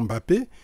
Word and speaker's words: Mbappé: de football Kilian Mbappé retenons le nom Mbappé et bien les Occidentaux soit ils disent Mbappé soit ils disent m Mbappé c'est simplement parce qu'il n'arrivve pas à prononcer ces structur là alors donc probablement justement